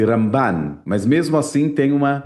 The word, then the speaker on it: Ramban: Na mesma época que viveu Rambam, no sul da Espanha, viveu Ramban na região de Barcelona. A diferença é só o N e o M final, então Rambam e Ramban.